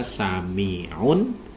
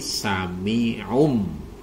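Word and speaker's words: سميع بصير: mana yang salah mana Yang salah adalah ketika kita membaca Samiun Basir Samiun nah Samiun Jadi tidak boleh dibaca Samiun tapi samium ya samium Basir di mim sukunkan kemudian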